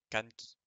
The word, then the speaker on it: Kanki: C'est pas Kanki, c'est Kanki. Parce que en, ça n'existe pas. Donc, nous avons K, N, juste le N tout seul, Ki. K, N, Ki. Kanki.